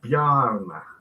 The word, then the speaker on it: Bjarne: Yeah, I can see how you spell it, but do we say Bjarne or Bjarne or? It's Bjarne. Bjarne.